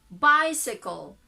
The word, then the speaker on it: bicycle: Then bicycle. Bicycle. Still the same. No vowel sound in between.